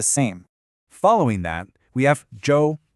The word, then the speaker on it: 舟: Following that, we have Zhou.